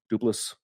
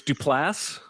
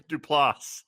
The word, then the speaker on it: Duplass: steven roone mark duplass dupless duplasty um you did two pronunciations and neither were right it's duplass duplass applause i don't give a